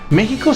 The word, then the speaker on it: México: el nombre de méxico méxico se escribe con equis pero se pronuncia con jota en el caso de